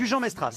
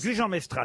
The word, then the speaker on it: Gujan-Mestras: Une question pour Isabelle Terré, qui habite Gujan, mais je sais pas comment on prononce. Gujan-Mestras. Gujan-Mestras, c'est Eh oui, Simone.